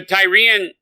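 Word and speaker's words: Tyrea: And then in that point in time, you start learning the Tyrian... I think we've been saying it wrong. Tyria is what it's called.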